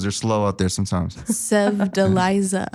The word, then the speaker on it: Sevdaliza: Sev Deliza. Steph Deliza.